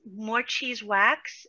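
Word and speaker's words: Morecheez Wax: out there so far so my name is more cheese wax it's spelled a little differently it's m-o-r-e-c-h-e-e-z w-a-x more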